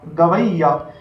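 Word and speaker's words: گویّا: गाफ वाव, वाव को मिलाना है आपको ये से, गाफ वाव ये गवई, फिर ये अलिफ या, गवैया।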